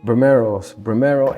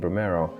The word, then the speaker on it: Brimero: Us Muslims, us Arabs, we can't pronounce the P, so it just went, the P becomes the B, so it became Brimero.